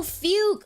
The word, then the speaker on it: Fugue: Oh, Fugue. Okay. So she is Fugue. So not Fugyu, sorry. She's Fugue.